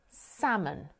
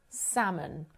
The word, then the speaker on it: salmon: And there are lots of words like this with a silent L, an L that's included in the spelling but not included in the pronunciation.